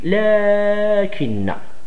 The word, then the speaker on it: لكن: ما فيهاش شي مشكل، لكن كنقولوا لكن، ولكن كنكتبوا لكن، كتبوا لكن، ولكن هي تنطق لكن.